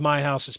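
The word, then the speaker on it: Meihaus: M E I H A U S. And it's pronounced my house.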